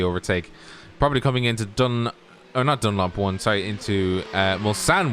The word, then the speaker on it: Mulsanne: probably coming into into Mulsanne 1, or otherwise known as PlayStation Curve. To people who call it PlayStation, it's not PlayStation, it's Mulsanne. It's the right way to say it.